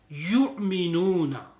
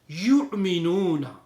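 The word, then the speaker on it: يؤمنون: And it is also used yu'minuna. When you read yu'minuna, on the waw there is a hamza there. Yu'minuna.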